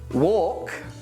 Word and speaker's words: walk: silent end now well we don't pronounce it in chalk walk calm and palm other cases of a